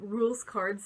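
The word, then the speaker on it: Rouxls Kaard: um he said like the way you pronounce um rules cards name is actually rules card which I know I was cool you like I don't know what I was pronouncing in eyes but like any stay like that it's like a pun it's like rules car like the rules card in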